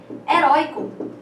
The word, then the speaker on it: herói: Mas a palavra herói, né, como nós vimos ali, né, o rói continua sendo a sílaba mais forte, mas como agora não tem essa última sílaba, ela passa a ser a última sílaba da palavra, tornando essa palavra uma oxítona e, portanto, exigindo o acento.